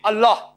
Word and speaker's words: Allah: it's their language similarly we know how to pronounce correctly Allah they say Allah is there no problem right